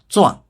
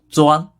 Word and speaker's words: 钻: 钻本意是在物体上打眼穿孔的工具，这时是名词，读作第 4 声钻。